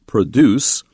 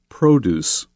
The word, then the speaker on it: produce: high quality food then we uh change the pronunciation and use it as a noun produce visitors can enjoy fresh